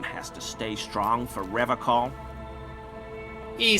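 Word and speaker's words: Revachol: He pronounces Revacol with a hard K, unlike other people. You said Revacol? I like to pronounce it the hard way. The old way. The Vespertine way.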